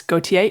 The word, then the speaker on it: Gautier: to the podcast Alex apologies if I've butchered your surname but what should our listeners know about you and clear estate please no it was perfect Kate thank you uh some I'm